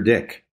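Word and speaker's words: Dyck: to pronounce it I said how do you pronounce his name Jeff and he says that's Peter dick yep so so he said you I he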